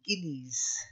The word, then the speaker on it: guineas: then a hard G. Guineas. Guineas. Yes, like the guinea pig.